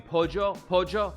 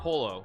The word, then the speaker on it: pollo: They're like, you mean pojo? Like there are all these little things in Argentina that are very different. Yeah, it's not polo. It's not. Or not pollo. Sorry. It's yeah, they pronounce it differently.